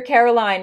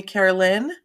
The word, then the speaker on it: Caroline: Yeah, you're Caroline, never Carolyn, right? Well, actually, so it's spelled Caroline, but my entire life, my mother called me Carolyn.